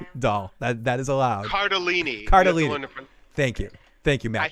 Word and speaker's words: Cardellini: You can have a life-size Linda Cardini doll. That is allowed. Cardellini.